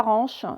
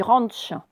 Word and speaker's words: ranch: Le propriétaire du ranch, alors on ne dit pas ranch, on dit ranch. Alors, c'est vrai que vous avez peut-être lu ranch et c'est normal, mais à l'américaine, ça va se dire le ranch.